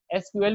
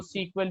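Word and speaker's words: SQL: एसक्यूएल भी पढ़ते हैं और इसको सीक्वल भी प्रोनाउंस किया जाता है।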